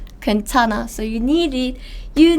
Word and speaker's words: 괜찮아: This is here, so it's just pronounced as N sound. 괜찮아.